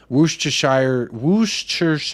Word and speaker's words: Worcestershire: Rich there you go talking to me nicely Worcestershire sauce is the correct pronunciation yeah glad we got that sorted ldbc